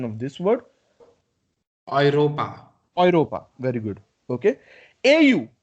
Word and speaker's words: Europa: so this EU, okay, this EU, it is pronounced as OI. Oi. So, what would be the pronunciation of this word? Europa.